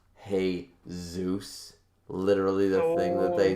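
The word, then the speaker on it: Jesús: it up eventually but isn't it ironic that Jesus is pronounced hey Zeus literally the thing that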